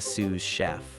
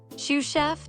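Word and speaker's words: sous-chef: Shoe chef, do they cook sneakers? Are they grilled or fried? I prefer my laces extra crispy. Roxy, it's Sue chef. S us, it's French for under.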